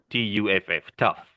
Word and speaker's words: tough: Tough. Because it Tough. sounds like TUFF, tough. Okay?